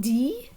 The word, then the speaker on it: dit: So, comment dit-on the homework en français? And that person might tell me, on dit les devoirs. So we notice now the T is silent in dit, right?